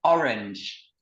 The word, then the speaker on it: orange: Ça s'écrit comme en français, donc c'est pas compliqué à retenir. C'est juste la prononciation qui change. Est-ce que tu peux le répéter après moi? Orange.